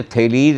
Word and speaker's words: Thales: भी अलग होते हैं, ग्रीक भाषा में ई जो है उसको डिटेल में बोला, लंबा करके बोला जाता है, और एस आगे आ गया तो लिखा जाएगा THALES।